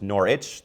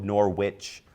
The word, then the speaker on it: Norwich: nordstrom this whole time apparently i put too much emphasis on dw apparently it's just norwich no nor witch but it makes sense that there's no emphasis on the w because norwich doesn't